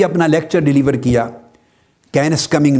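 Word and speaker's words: Kenneth: और साइंटिस्ट है professor कैनस coming कैनस coming कैनस के स्पेलिंग लिख ले के E double N ई टी H teach सा की आवा आवाज देता है से की तो कैनस कमिंग कमिंग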